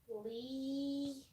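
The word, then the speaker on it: 이: Lee. Yes. Really and truly it's pronounced E, but whatever.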